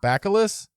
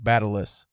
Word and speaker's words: bacillus: Bacillus. The guy in the video, I swear, said T like Batillus.